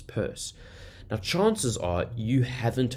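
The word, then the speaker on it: Peirce: Charles Sanders purse now you pronounce his last name purse even though the way it spelled you when you say Pierce um so sometimes people say trust and disappears but apparently the correct pronunciation was Charles Sanders purse now chances are you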